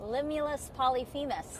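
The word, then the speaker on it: Limulus polyphemus: Limulus Polyphemis.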